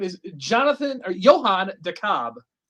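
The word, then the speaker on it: DeKalb: With decal. Well, I think it is Dalb, but it's spelled the Cabb. It's spelled Decal, but it's Dabb, right?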